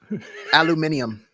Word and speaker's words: aluminum: it cools down so just take the the aluminum foil off uh and by the way still that still annoys me that britz insists that word is pronounced how aluminum aluminum aluminium aluminium where do you get that extra eye